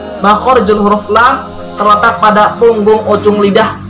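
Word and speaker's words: ل: 23, yaitu huruf lam. Pelafalannya la. Makhorijul huruf lam terletak pada punggung ujung lidah bertemu dengan gusi muka yang atas.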